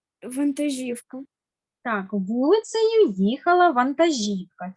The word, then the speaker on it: вантажівка: дуже болить спина наступне вантажівка наголос на і на передостанній склад і останнє слово було